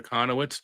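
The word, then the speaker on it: Kochanowicz: But like some people call him Jack K because they don't look the pronunciation for Kahanowitz.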